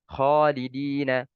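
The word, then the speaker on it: خالدين: Khalidina, kha, ya, kha bukan gha.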